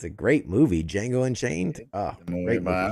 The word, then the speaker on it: Django: Why is there a D in there if you don't want me to say it? It's Django. It's a silent D.